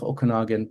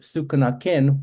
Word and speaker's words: Okanagan: In our case, it's the Syilx Okanagan people. And the name Okanagan, funnily enough, is a mispronunciation of the word Sukanakin, which was the actual word used by or still used by the Syilx people.